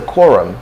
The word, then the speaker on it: quorum: have to say the quorum you have to maintain the quorum the quorum okay so the stress is on the call the quorum all right